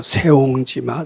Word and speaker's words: 새옹지마: 세옹지마, 세옹이 색자인데 그걸 새로 발음하는 거 같더라고요.